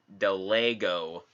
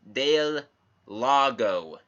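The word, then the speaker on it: Del Lago: that rez kneel before it takes place in Spain hence all the names are pronounced in Spanish and the way that's spelled the proper pronunciation would be dale lago that lego you american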